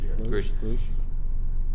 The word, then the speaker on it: Grusch: What's interesting, though, is this latest whistleblower, David Grusch, I think his name is pronounced Grusch.